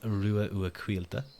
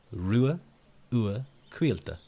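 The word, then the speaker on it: Ruadh Ua Cailte: My name is Rua Ua Quilta. Rua Ua Quilta. Don't worry about the spelling. It's Irish. But welcome in, next teacup.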